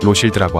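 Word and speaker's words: Rothschild: 여기서 로스 차일드를 프랑스어로 발음하면 로실드라고 하죠.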